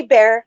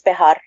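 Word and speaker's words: Bexar: You can say Bear because that's the the common way to say it. But it's Behar. It's a Spanish, yeah.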